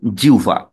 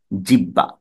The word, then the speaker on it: জিহ্বা: উভ এ রূপান্তরিত করবে তাহলে এটা উচ্চারণ হবে জিউবা জিউবা কিন্তু সচরাচর আমরা ভুল করি কোথায় আমরা জিউবাকে উচ্চারণ করি কেউ কেউ উচ্চারণ করি ভুল উচ্চারণ জিহ্বা এরকম করে জিহ্বা এটি একটি ভুল উচ্চারণ